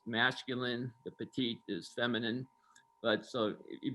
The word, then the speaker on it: petit: cabernet merlot you don't say the tea the petit when there's no e at the end it's actually in french it's masculine the petite is feminine but so if you kind of